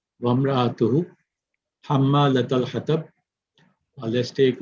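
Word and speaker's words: وَامْرَأَتُهُ: But if you have a waw before it and it has a fatha on it, so you would say wamra'atu, and the hamza would not be pronounced. Wamra'atuhu, hamma latal hatab.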